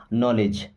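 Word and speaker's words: knowledge: नॉलेज क्या बना है नॉलेज ओके ऐसे नो इंगली बना है यानी के के बाद कभी एन आता है ना तो के हमारा साइलेंट हो जाता उसको नहीं पढ़ा जाता दोस्तों वीडियो में आगे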